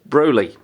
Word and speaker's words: Broly: Or Broly. Depends how you like to pronounce it. It is Broly. So, you know, just get that correct.